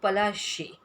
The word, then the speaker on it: Palashi: Plassey, it's an anglicized pronunciation of Palashi, and the place derived